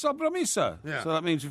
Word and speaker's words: sobremesa: Sobremesa. Sobremesa. Sobremesa. That sounds more Italian. Actually, it should be. There should be a more accent on the E. It should be sobremesa.